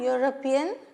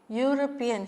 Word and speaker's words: European: But he is an European. Why? What's wrong? European is pronounced as U. Okay, European.